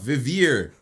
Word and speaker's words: Vivir: Vivin la Vida? No. Vivir.